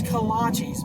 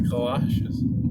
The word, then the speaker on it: kolaches: feet and ass is it donuts and collages or the kolaches it's kolaches man i pronounce the collages well you're wrong i guess i'll just